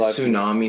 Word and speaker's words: tsunami: Why is Tsunami spelled with a T?